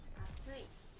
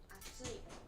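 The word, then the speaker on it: 暑い: Atsui. Atsui.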